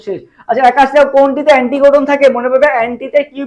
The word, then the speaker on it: অ্যান্টিকোডন: কোনটিকে অ্যান্টিকোডন বলা হয়? অ্যান্টিকোডন। অ্যান্টিকোডন কোনটাকে বলা হয় বলো তো? অ্যান্টিকোডন। দেখো অ্যান্টি কোনটা বেশি উচ্চারণ হচ্ছে ভাই? টি বেশি উচ্চারণ হচ্ছে, অ্যান্টি কোডন।